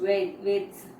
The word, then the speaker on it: Vedas: So religious books, okay, the religious books, for example, that is the Vedas, the pronounced Veds are Hindu religious books written by early people called the Aryans.